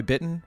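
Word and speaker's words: Bittan: Max Weinberg and is it Roy uh Roy bitten right is that how you pronounced his name yes y this was this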